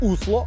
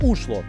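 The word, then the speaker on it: Oslo: нової столиці взагалі норвежці Осло не називають Осло вони його називають усло або ушло Це залежить від діалекту А чому саме так тому що буква о у них читається як у центральна частина міста зосереджена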